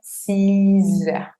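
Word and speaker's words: six heures: Y acá también termina con una X. Vamos a pronunciar 6 heures. 6 heures. ¿Por qué acá hago la liaison? Porque la palabra heure, horas, empieza con H muda.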